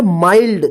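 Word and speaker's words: mild: एम आई एल डी इसको क्या पढ़ेंगे माइल्ड देखिए यहां पे एन नहीं है फिर भी इसको आई का आई उच्चारण हुआ है माइल्ड इसको मिल्ड मत पढ़िए ठीक है ना एम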